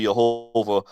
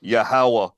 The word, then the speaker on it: Yahweh: Tetragrammaton, the like the Strong's Lexicon Dictionary will say Jehovah, but it's actually pronounced Yahweh.